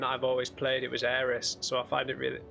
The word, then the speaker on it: Aerith: the game and I've always played it was Eris so I find it really if if you